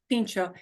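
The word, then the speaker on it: pintxo: Basque Country, because that in the Basque language, that X, there are X's in all kinds of Basque words. And it approximates the CH sound.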